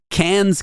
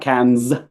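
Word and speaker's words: Cannes: I'm always correcting her saying it's can Mom not can's yeah she always like yes yeah it's it's can the can film festival um I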